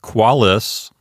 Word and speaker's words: qualis: Next we have qualis. That's a two-syllable word, so the accent automatically falls on the first syllable. The first syllable is Q-U-A. The second one starts with the consonant L, L-I-S.